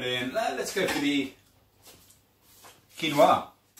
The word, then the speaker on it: quinoa: closer yep here we go asparagus avocado quinoa quinoa if you don't know how to say it